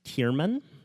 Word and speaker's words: Thiermann: last name is difficult thi and pronounced chairman uh what is here